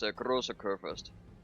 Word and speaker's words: Großer Kurfürst: Or if you want to pronounce it in German, it's Großer Kurfürst.